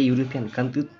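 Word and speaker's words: European: his wife is এ ইউরোপিয়ান কিন্তু তার স্ত্রী একজন ইউরোপিয়ান ইউরোপিয়ান ই আর ইউ যখন একসাথে থাকবে তখন উচ্চারণটা ইউ এর মত হবে তাই তখন বসবে এ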